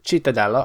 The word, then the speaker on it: Cittadella: So last time we faced Cremonese and drew 2-2, and we faced Cittadella, I looked it up, that's how you say it, 3-0 against them.